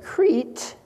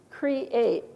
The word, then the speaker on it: create: don't this word here we don't say Crete that's not a vowel digraph there is it it's create how many syllables in this word it's two isn't it it's not a